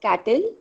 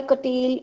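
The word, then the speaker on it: Cattell: foreign we have curtail it's not called as cattle is the pronunciation because c a double t e double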